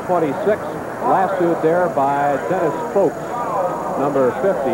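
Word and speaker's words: Fowlkes: Lassoed there by Dennis Folks, number 50, F-O-W-L-K-E-S, pronounced Folks.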